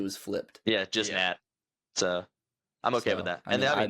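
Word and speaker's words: Xochitl: So, uh Soi Gomez. No shot. I would not have gotten that right. I was going like Zakil or something.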